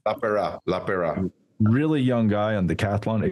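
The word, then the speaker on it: Lapeira: Paul LaPera? How do you say his name? LaPera.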